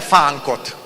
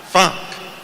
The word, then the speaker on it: fánk: és felfedeztem a fánkot. How do you pronounce it? Fánk. Frank. Fánk.